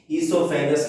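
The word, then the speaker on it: oesophagus: ईसोफेगस में ओ silent है, ध्यान रखना।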